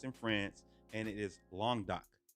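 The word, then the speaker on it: Languedoc: France and it is long dock long doc that's how you say it okay long dot um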